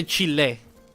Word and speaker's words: Chile: We say Chile with a very it's like EH Chile. That's pretty much how we pronounce every A, E, even in Italy.